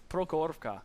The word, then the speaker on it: Prokhorovka: That was one of the maps they had a difficult time pronouncing. Can you say it again? Prokhorovka.